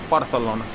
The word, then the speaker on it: Barcelona: full of Paia and you say Barcelona barthelona keep the paia in your mouth without spitting it all over the place and that is how you get the proper pronunciation of Barcelona it's now exploring park